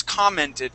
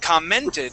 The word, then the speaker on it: commented: The word is commented, but you said commented, putting the Yeah. accent on this E right here. So the accent goes at the very beginning.